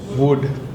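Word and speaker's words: would: વુડ.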